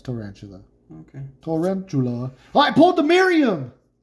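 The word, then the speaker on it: Tarountula: Story Tower today junior how do you say that Toronto yeah it's tarantula okay I pulled the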